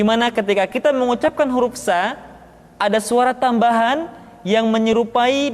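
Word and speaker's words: ث: Berikutnya huruf sa, diucapkan sebagaimana kita mengucapkan huruf sa, yaitu ujung lidah di antara dua gigi seri kita.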